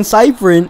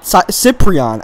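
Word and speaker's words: Cyprien: players like um Jonathan Cipherni Cypriion. I I gotta apparently I pronounced his name completely wrong before. I think it's Cypriion. That's the right thing.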